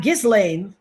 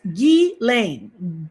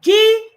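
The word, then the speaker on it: Ghislaine: Not just lane, not gizlane, not not all those other things. Gain. Gain. Let me say it again. Gain. The S is silent.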